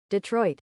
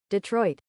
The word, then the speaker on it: Detroit: It is actually pronounced Detroit. Let's listen. Detroit. Detroit. Detroit.